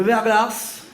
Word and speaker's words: verglas: Le verglas. Ah, on prononce pas le S, autant pour moi.